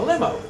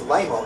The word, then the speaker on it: LIMO: A limo. It's pronounced lemo, actually.